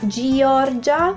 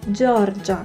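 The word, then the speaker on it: Giorgia: This is spelled G-I-O because you need to read Jo, okay, Georgia. It's not Georgia, okay, Georgia. Can you hear the difference?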